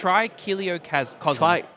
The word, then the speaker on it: Trichiliocosm: Trichiliocosm. Trichiliocosm. That's right. Is it? Yeah, it is. I'm just our pronunciation's the Trichiliocosm.